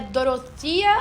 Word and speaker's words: Dorothea: falar aqui hoje é dorota eu acredito que é assim que pronuncia em inglês mas como a gente